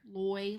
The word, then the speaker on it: lawyer: lawy lawyer no lawyer Loy like boy yeah that's how I